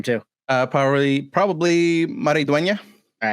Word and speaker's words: Maridueña: Zolo Maraduena. Nope, How, Solo. there we go. How do you say his last name too? Probably Maridueña.